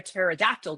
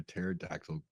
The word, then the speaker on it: pterodactyl: Why do you never hear a pterodactyl go to the bathroom? Why do you never hear a pterodactyl go to the bathroom? I don't know. Because the P is silent.